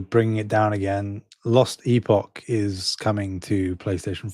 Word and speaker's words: Epoch: Lost Epoch is coming to PlayStation 5. Uh, it's a Fantasy X and RPG coming along with a first major expansion. No release date. I believe it's pronounced Epic.